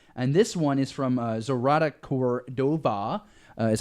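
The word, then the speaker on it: Zoraida Córdova: And this one is from Zorata Cordova, is how you say the name, and author of the Vicious Deep trilogy.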